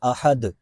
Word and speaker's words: احد: دال کا لفظ ہے، دال میں قلقلہ ہوتا ہے، یعنی اس کو واضح کرنا ہے، جیسے احد، صمد، اگر ایسے پڑھیں گے احد، صمد، اس طرح یہ تلفظ درست نہیں ہوگا۔ قل، یہاں قاف ہے،